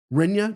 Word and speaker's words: Rinya: Is that Kenya or Rinya? Rinya Nakamura, stud.